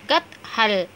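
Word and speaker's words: कटहल: ஸோ கத் ஹல். ஸோ இது எப்படி ரீட் பண்ணணும் கத் ஹல். ஏன்னா செகண்ட் லெட்டர் ஆஃப் லெட்டராக ப்ரொனவுன்ஸ் பண்ணுறேன், ஃபோர்த் லெட்டர் நான் ஆஃப் லெட்டராக ப்ரொனவுன்ஸ் பண்ணுறேன்.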